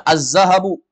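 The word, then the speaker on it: الذهب: d itu huruf Syamsiah atau qamariahsiah Syamsiah contohnya azzahabu azzahabu Apa artinya mas mas atau emas emas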